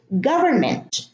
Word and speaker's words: government: Here in government, government has a verb, govern, and then we add ment to make it a noun. So it's government. So we drop the N is silent.